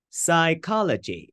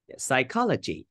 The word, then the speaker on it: psychology: to stress them correctly psychology remember we have the the P mute just say G psychology so the stress is put on the second syllable and coconut so try